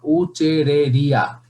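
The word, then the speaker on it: Wuchereria: এক নম্বরে তোমরা বলবা উচেরিয়া ব্যানকফটি, উচ্চারণটা ঠিক মতো করবা, উচেরেরিয়া, ঠিক আছে না? উচেরেরিয়া ব্যানকফটি, এটা তোমরা ঠিক মতো নামটা উচ্চারণ করবা।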